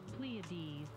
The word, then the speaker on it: Pleiades: Oh, I can hear how it's pronounced. Pleiades.